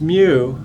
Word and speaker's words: mu: m for mean so mu for me and then the way you pronounce the letter is mu like a cat like a cat would make a sound mu or how we